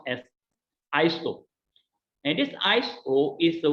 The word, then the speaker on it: ISO: organization of standardization is the word called uh pronounced as iso and this iso is the word which means